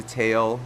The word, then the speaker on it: Tao: man before the podcast we didn't know how to pronounce his name specifically if it was towel or tail so we eventually got it right thank you for that